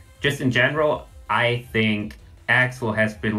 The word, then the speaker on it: Accel: But It's pronounced Axel because triple Axel exists.